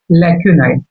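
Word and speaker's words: lacunae: इसको क्या पढ़ सकते हैं? लैक्यूनाई कह सकते हैं। ठीक है, इसका प्रोनाउंसिएशन क्या होगा? लैक्यूनाई।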